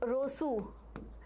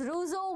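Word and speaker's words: Rousseau: example Walter Walter okay or it is Rosu rouso basically I was pronouncing wrong to get your attention so it was rouso walter etc.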